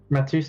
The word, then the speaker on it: Matheus: And Matheus, is that how you pronounce it correct? Matthews. Yeah, what? Matheus, yeah.